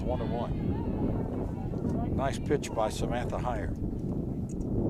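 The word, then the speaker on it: Heyer: Nice pitch by Samantha Higher. H-E-Y-E-R is how she spells her name, but pronounced higher, like going higher.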